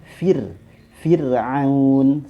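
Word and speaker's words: فرعون: ke kaidah saya umumnya bahwasanya kasroh ya dibaca tipis dan itu akan mempengaruhi huruf rhonya maka dibaca Fir Firaun seperti itu contoh berikutnya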